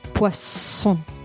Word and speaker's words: poisson: Pescado se dice poisson. Poisson. Con una S. Ok. Con este sonido.